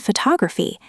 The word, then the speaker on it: photograph: First, focus on word stress. In English, we stress certain syllables. For example, the word photograph and photography have different stress patterns. That's right. Photograph, but photography. The stress moves.